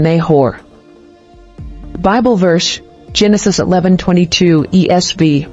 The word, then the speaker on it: Nahor: origin Hebrew naav meaning snora or to breathe pronunciation neor Bible verse Genesis 11:22 ESV when suuk had